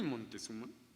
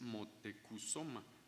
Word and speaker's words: Motecuzoma: Pues no es ni Montezuma ni Moctezuma. La palabra escrita con toda su etimología en náhuatl es Motecuzoma.